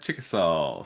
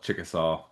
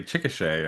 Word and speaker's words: Chickasaw: In uh in Oklahoma, well, yeah, in Oklahoma, there's a town right next to where I grew up called Chickasaw. And uh yeah, locals there will even say Chicochet. I'm like, that's not Yeah, that's not how it's spelled at all.